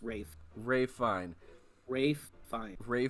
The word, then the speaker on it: Ralph: fined Ray fine ralphine it looks like it's pronounced Ralph but it's Rafe Ray fine Rafe fine